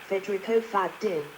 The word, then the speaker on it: Federico Faggin: this one federo fagin Federico fagin Italian pronunciation fedo fagin Venetian fad born the 1st of